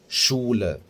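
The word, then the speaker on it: Schule: مثلا عندنا كلمه مدرسه مدرسه عندنا يعني ايه شول شول فاحنا هنا نطقناها ايه شين قويه مثلا عندنا التلج شني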